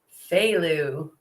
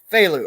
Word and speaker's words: Feyleux: Fu. Phu.